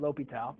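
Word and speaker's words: L'Hôpital: if a limit that's how you say it Lal if a limit of some function maybe expressed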